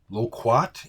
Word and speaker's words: Loquat: I was on Myspace lcot loquat is how you say it I think they're a